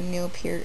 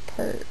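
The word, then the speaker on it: Neil Peart: talks about how good Neil Pier is that's actually how you pronounce his name I thought it was per or something but it's p supposedly um everyone always talks about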